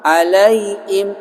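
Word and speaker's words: عليهم: Ya, itu bacanya salah tuh kalau begitu. Alaihim. Harusnya alaihim, begitu. Ghairil maghdubi alaihim, begitu bacanya. Orang baca ghairil maghdubi alaihim. Nah, gitu. Kenapa dia bacanya i? Karena apa susah? Karena huruf H, hak besar, itu tenggorokannya paling jauh dari bibir.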